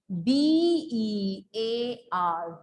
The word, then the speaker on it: bear: B-E-A-R, bear. We will not call it beer, please, students. It is pronounced as bear.